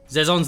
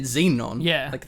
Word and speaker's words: Xezon: as our China nuke zon's the guy that made okay right so you pronounce it zon yeah what you said Xenon it's clearly not an N okay yeah but like